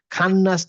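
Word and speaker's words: خناس: তাহলে বলছে মিং শাররি ওয়াসওয়াসিল খন্নাস, এই খ হচ্ছে হেভি লেটার, খান্নাস না হয়ে হবে খন্নাস।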